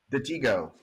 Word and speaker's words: Detego: uh so I'll let you you pronounce it pronounce the name of the company for me the Tigo okay is that so I have been doing